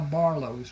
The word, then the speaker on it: Barlos: And that is how Barlos was born. The name was not a problem for the people in southern Louisiana because the French Acadian influence. It is pronounced Barlo.